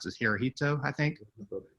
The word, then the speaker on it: Hirohito: um eventually they kept well how do you pronounce this hirohito i think right so they um kept him